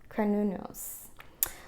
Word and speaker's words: Cernunnos: Okay, so they tell you how to pronounce it in here. It's Cernunnos.